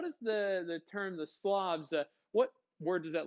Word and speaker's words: Slavs: one group of people the slobs okay s-l-a-v-s slavs not slobs like i don't pick